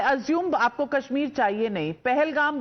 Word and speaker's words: Pahalgam: पहलगाम बोलना तो आता नहीं, पलग्राम बोल रहे हैं आप उसको. So clearly they want Kashmir for themselves. Pahalgam bolna aata nahi.